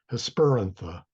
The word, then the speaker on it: Hesperantha: Hesperantha, technically it would be Hesper means evening and antha means flower. So that's why I want to say Hesperantha. But again, the rule of the third syllable is Hesperantha.